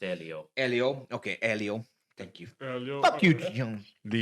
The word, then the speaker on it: Elio: I think it's pronounced Elio.